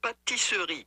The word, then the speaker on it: pâtisserie: pronunciation? Pâtisserie. Patisserie.